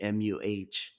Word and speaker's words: Muh: MUH. Muh. Moo. Muh. It's pronounced the same, but spelled differently.